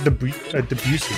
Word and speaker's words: Debussy: I'm pretty sure it's Debussy.